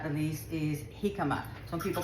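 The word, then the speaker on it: jícama: So we don't say jikama. We don't say jalisco, we say halisco and we say hikama.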